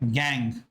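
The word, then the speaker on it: gangue: तो everything that is unwanted जो unwanted होता है उसको हम कहते हैं गैंग। उसका स्पेलिंग होता है गंगू जैसा गैंग।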